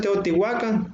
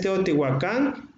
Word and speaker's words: Teotihuacán: Mucha gente pronuncia Teotihuacán, pero no, es Teotihuacán porque en las lenguas nahuas se acentuaba las ciudades, las regiones, caía el acento en la pronunciación era del acento agudo.